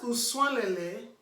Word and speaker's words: Uswalele: That Uswalele, when you remember that our last vowel is pronounced as U, you will not go and be pronouncing Uswalele. The way you pronounce usual in English language.